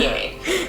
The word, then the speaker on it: Viognier: Randy, this wine is a Viognier. Veal what? What in the Viognier, what? pronounced Yeah, exactly. Viognier.